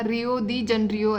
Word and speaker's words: Rio de Janeiro: तो ये इसको अडॉप्ट किया था 1992 में, और इसका प्रोनाउंसिएशन आप देख लेना, रियो दी जनरियो ऐसे ही बोलते हैं इसको, तो ये आप देख लेना।